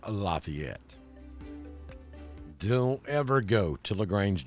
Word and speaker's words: Lafayette: that's pronounced Lafayette Lafayette Square in LaGrange is pronounced Lafayette don't ever go to LaGrange Georgia and say Lafayette Square you'll get run out of town so